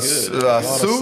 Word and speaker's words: Sioux: Sioux. That was good. Sioux.